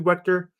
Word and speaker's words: Wegter: to butcher it again yeah it's wet it's wet the G the G sounds like a k it doesn't make any